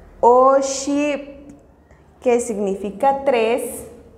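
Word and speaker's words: oxib': La pronunciación es Hun. Hun. Kep. Kep. Que significa dos. Oship. Oship.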